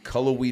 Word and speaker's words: Cullowhee: You grew up in Cullowhee, North Carolina. Wow. First time. You got it right. Let's go. On the pronunciation? Yeah, nobody does.